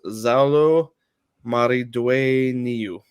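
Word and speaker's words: Xolo Maridueña: Butch us a little bit but it is zalo Mari due yeah Dwayne yeah yeah there we go it's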